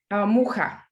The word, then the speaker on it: Mucha: How do you say it in Czech? Muchu? Mucha. Mucha, okay. Po česky Mucha.